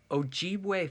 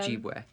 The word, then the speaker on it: Ojibwe: Now, for Ojibwe folklore, I believe I'm pronouncing that right. I heard one indigenous person say it that way, so that's the way I'm saying it. Yeah. Ojibwe.